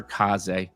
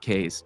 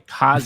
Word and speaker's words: Kaze: Do it for Kaz, not K's, by the way. Kaz is how you pronounce it, people.